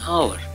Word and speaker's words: hour: An hour. When we pronounce hour, it begins with A. Letter H is voiceless.